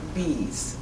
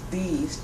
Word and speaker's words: Bees: my name is bees c l a u d e t t e last theme is bees just like a bumblebee BS and boy e